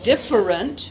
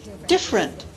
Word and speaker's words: different: Instead of saying different, we say different, different, different, different.